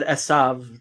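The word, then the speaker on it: עשו: I said Esav. That's how you say it in Hebrew.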